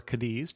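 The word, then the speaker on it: Cádiz: of Barcelona with in kadei or kadis depending on how you want to pronounce it I'm pronouncing where I can with the Spanish pronunciation but kadei is the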